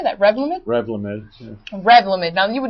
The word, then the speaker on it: Revlimid: Revlimid, yeah.